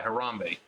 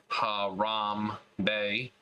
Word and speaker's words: Harambe: the gorilla enclosure at the Cincinnati Zoo and Botanical Garden, where he was grabbed and dragged by Harambe, a 17-year-old Western lowland gorilla.